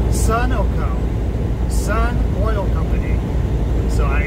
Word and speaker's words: Sunoco: once again uh in my last video i pronounced it sunco which was a fuel company at the uh the rest stop when i was trying to get the that calzone was not pronounced sunco it is pronounced sunoco sun oil company so